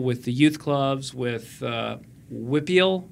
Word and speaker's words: WPIAL: the youth clubs, with Whippeal. Is that how you should WPIAL? Yes. Or Whippeal. Yeah. Whippeal is how someone pronounced it, right?